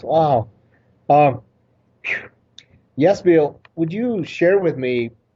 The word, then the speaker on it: Yasbel: and then am i saying your name correctly yes bill yes it is very similar to this it's has been yes bill what a wonderful pronunciation thank you thank you